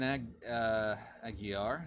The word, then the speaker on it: Aguiar: Julian Aguiar. I mispronounced it last time too. I keep adding an L to it.